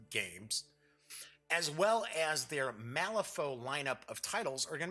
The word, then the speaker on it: Malifaux: not just Wyrd Games, as well as their Malifaux lineup of titles, are going to be pleased